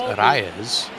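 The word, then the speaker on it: Arraez: yeah Luisa Reyes and if you can roll your r's it's arayas yeah uh Luisa was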